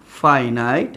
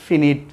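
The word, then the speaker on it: finite: এই সেন্টেন্সে একটি সাবজেক্ট এবং একটি ফাইনাইট, FINIT, ফাইনাইট ভার্ব থাকে। স্টুডেন্টস, আমরা এটা কিন্তু অনেকে ভুল বলি, ফিনিট, ফাইনাইট।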